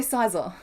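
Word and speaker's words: Scizor: I believe it's pronounced like the word incisor. Yeah, sizer. Get rid of the in.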